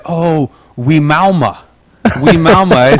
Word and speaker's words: Wimauma: And I had to say, I spelled it out for her, and she said, oh, Wimauma.